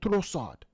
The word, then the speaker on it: Trossard: goal by leondo Tresor I have to say his name with the accent Leon trosard trosard this guy he doesn't deserve to be his name doesn't deserve to be speaking or pronounced like in English you have to put an accent on it that's how great he